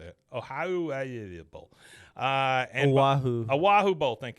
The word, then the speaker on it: Oahu: Oahu Bowl.